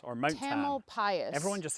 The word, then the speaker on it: Tamalpais: Mount Tamalpais, or Mount Tam. Tamalpais.